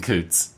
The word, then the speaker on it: Coutts: Coutts is pretty funny here, at least in the States. It's Coutts. The Alberta border crossing is called Coutts, so I'm going to say Coutts. I like saying Coutts.